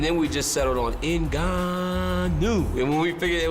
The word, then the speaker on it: Ngannou: Coincidentally, just 2 months prior to Tyson winning that title, Francis Ngannou was born.